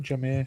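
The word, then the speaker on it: Jahmyr: God yeah damn it just interesting as well jir Gibbs is that how he say his name jir jir yeah he's about the same size as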